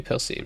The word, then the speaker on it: Percée: It should be Percée, right? Because only if it has an aiguille above the E, it's spelled as not pronounced as an E. Otherwise it's E, Percée.